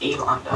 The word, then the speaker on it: Elaunda: It's like Yolanda, but it's Elanda.